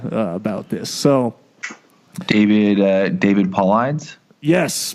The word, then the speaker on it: Paulides: this so David David Paulides yes Politis I think is how you say it but yes it seems